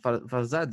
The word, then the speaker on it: Farzad: C'est Farzad, c'est ça? Mm. On dit Farzad, on dit en arabe, en prononciation.